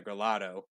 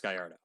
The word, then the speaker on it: Gallardo: a lot of people here in America pronounce it the Gelato, but it's actually pronounced Gallardo.